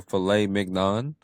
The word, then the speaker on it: filet mignon: There should be no G in there if we're Right.